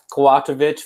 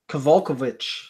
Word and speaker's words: Kowalkiewicz: So next fight we got Carolina KK Kowalkiewicz versus, I know I butchered that last name. Versus how do you pronounce it? Kowalkiewicz.